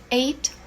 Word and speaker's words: ate: Ate. Eaten. Ate. Eaten. Esse T é bem suave. Bem suave. E essa pronúncia é igual ao número 8.